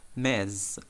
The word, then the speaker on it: Ms: word mistress and is is the last one mez mez so it's there is an ms but it's announced it's pronounced mess so it's type this title is